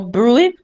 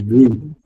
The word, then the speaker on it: bruit: For bruit, the T is silent. So imagine you're saying B-R-U-I, bruit. Okay? So it's bruit.